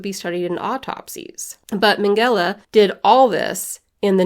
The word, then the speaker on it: Mengele: Mengele. That's how you say it. Mengele.